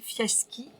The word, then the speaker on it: Fiaschi: Et nous sommes donc chez Gaëlle Fiaski, on prononce comme ça.